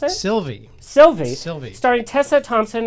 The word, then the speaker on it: Sylvie: studio films into everything upcoming films include a Sylvia is that how you pronounce it Sylvie Sylvie Sylvie starting Tessa Thompson and just announced